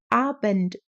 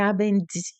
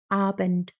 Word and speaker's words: Abend: bem curtinho, não é Abend, não tem esse D que a gente tenta fazer assim, né, faz em português, né, como se tivesse um I no final, então é bem curtinho, assim, Guten Abend, ok?